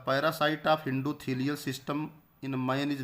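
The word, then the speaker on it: tsetse: लिखा था ना, उसको सीसी फ्लाई भी कहते हैं ग्लोसिना को। तो सेकेंडरी होस्ट जो ट्रिपैनोसोमा का है उसका नाम है सीसी फ्लाई, टी T silent रहेगा, सीसी फ्लाई।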